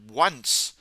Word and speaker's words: once: So of course once sounds like a W sound once.